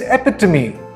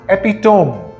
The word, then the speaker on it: epitome: not status it's status this word is epitome not epitome a sweet can be